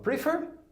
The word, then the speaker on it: prefer: Eu falo prefer ou eu falo prefer. Eu falo prefer. Então ele é oxítono.